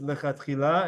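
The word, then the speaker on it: לכתחילה: out into the words lechatchila and bediavad. Okay? Lechatchila bediavad. And I'm giving this to you in the Sephardi pronunciation of lechatchila and bediavad. In Ashkenazi or in Ashkenaz, what would you say?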